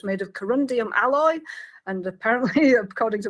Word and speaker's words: corundum: which does but the shooting script does say corundum she does pronounce it correctly um the computer announces that